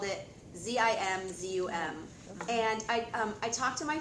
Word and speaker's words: Zimzum: kind of acknowledge that Barnett Newman was not calling it Tzimtzum. He's calling it Zimzum.